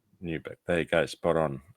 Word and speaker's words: Newburgh: This is the uh new is do you pronounce it Newberg? Yep. Just like that. Newberg.